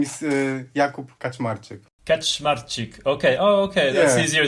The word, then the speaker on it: Kaczmarczyk: the foreigners for us it's super easy to pronounce but okay so my full name is Jacob catch smart chick okay oh okay that's easier than I thought